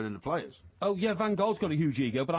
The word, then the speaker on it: Van Gaal: Now we've definitively decided it's Van Gaal. I will pronounce it as I wish to pronounce it, Really?